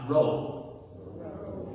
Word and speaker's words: rho: next to you have a letter that looks like what? A P sound, but it's actually not, it's rho.